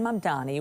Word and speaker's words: Mamdani: Babbel and the captioning group say Zohran Mamdani was most commonly mispronounced, with people swapping the M and the N in his last name.